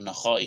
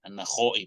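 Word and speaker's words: النخعي: Tadi Mbak yang membaca ini tadi baca bagus bacanya An-Nakhai, sekalipun tulisannya salah ini. An-Nakhai pakai ho. Seharusnya kha tadi seperti yang dibaca tadi itu benar tadi itu.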